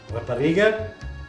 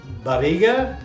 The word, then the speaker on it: Rapariga: So tonight we're going to have Rapariga the Quinta. Can we all say that together? Rapariga the Quinta. Now if you say it like barriga, barriga is tummy.